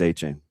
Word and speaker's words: Etienne: It's like the French Yeah, the Creole? The Creole Yeah. pronunciation of how the the A the Etienne Yeah. It's A chain.